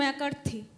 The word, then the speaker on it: McCarthy: জন ম্যাক ইয়েটা ছিল না বলে You're partially John right. McCarthy. John McCarthy, yeah, right. Pronunciation was not right.